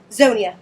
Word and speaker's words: Zonya: Am I pronouncing your name? Is it Zonya or Zonya? Zonya.